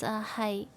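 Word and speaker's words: 係: We say yes in Cantonese, it's hi. In Japanese, it's hi. The pronunciation is very similar. But in Cantonese, the only difference is that you have to pronounce it in this specific intonation in Cantonese.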